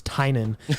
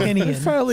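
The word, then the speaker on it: Tynion: my single largest takeaway is that James Tynan's name is pronounced James Tynan for I don't know how long. Tinian. Frank and I are up here calling him James Tinian.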